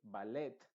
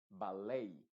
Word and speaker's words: ballet: se pronuncian, por ejemplo, particularmente estas que terminan en ET, no se pronuncian como tal, sino que se pronuncian con la A original, es decir, como A. Entonces, en vez de decirse ballet, se va a decir ballet.